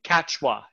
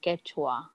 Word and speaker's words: Quechua: just came to me quechua do you speak no it's it's actually pronounced quechua that's it yes yes